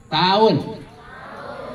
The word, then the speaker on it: tahun: penjajahan Apa bedanya coba ditulisnya a h n tapi dibacanya tahun kalau penjajahan apa penjajahan tidak karena itu diapit oleh vokal yang sama penjajahan a h a kalau tahun U dan a diapit oleh vokal yang berbeda dibaca lemah ya Coba anak laporan